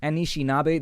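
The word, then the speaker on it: Anishinaabe: I think is how you say it the anishinabe there we go the anishinabe tribe that's what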